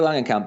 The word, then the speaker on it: Langenkamp: Is it Heather Langenkamp? Is yes, that how we pronounce her that's name? it. Yeah, Nancy. Heather Langenkamp, a woman who is literally out-acted by the